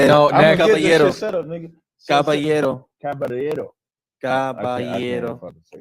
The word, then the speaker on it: Caballero: No, Caballero.